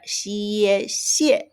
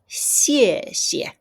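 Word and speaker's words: 谢谢: x i e xie. The second xie has no tone, which means I need to say it lightly. So, it's xie xie.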